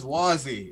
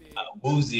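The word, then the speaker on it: Wouzy: There he is, Wazzy. Is that we pronouncing it right? Woozy on Twitter, yeah.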